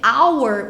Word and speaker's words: hour: Porque hour, o H é mudo. Então, por conta disso, tem que ser an, né? Porque o som, na verdade, se torna som vocálico, som de vogal.